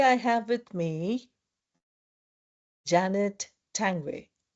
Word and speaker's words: Tanguay: Today I have with me Janet Tangway. Janet, did I pronounce your name correctly? Absolutely. Yes, that's a great pronunciation.